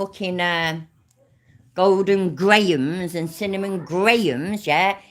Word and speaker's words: Graham: __ ] uh Golden Grahams and cinnamon Grahams yeah it's not gram it's Graham I love you all